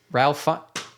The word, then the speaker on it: Ralph Fiennes: Ralph Fiennes.